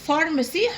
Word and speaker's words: pharmacy: في كلمة pharmacy حط فوق ال PHF. pharmacy.